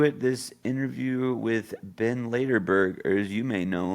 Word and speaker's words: Laderberg: Laderberg. Also known as. Yeah, not Laderberg, Laderberg. Laderberg.